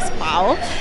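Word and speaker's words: Spui: piazzettina molto carina che si scve SPI però si pronuncia spao e abbiamo letto nella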